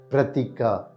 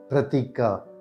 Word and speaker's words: Pratika: this is how we pronounce the name pratika pratika pratika pratika the meaning of this name is image or